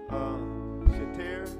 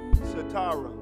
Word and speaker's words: Sitara: Shatir, I jacked it up. How you pronounce it? Sitara.